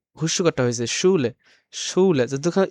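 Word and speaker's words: Schule: যেমন আমরা যেটা একটা বাক্য দেওয়া আছে এখানে ছুলে। ছুলে মানে হচ্ছে স্কুল। এখানে কিন্তু উটটা জন্য কিন্তু তালব স্বয় সু হইছে এখানে। উ হুস্যুটা হইছে ছুলে।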